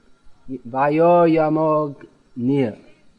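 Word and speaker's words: vāyur yamo 'gnir: Don't insert an extra syllable. No. Gna, you have to say Vayoryamognir.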